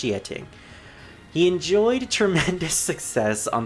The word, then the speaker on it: Xiating: It's supposed to be pronounced Xiating.